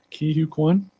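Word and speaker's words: Ke Huy Quan: I saw with Short Round, and I can't pronounce his name. He can. Ki-Hu Kwan.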